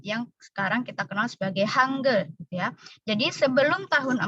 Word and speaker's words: 한글: Tulisannya Hangul tapi dibacanya Hangul, 여러분.